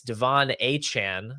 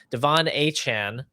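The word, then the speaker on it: De'Von Achane: player whose name continues to change apparently it's Devon a Chan now according to him he he came out and said that it's pronounced that way so I guess that's what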